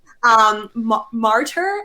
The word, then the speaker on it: Martyr: The Last Martyr, that's how you say it, because a lot of Americans are like, what's a martyr? I don't get your accent. Martyr, I don't pronounce my R's. We don't pronounce our R's here.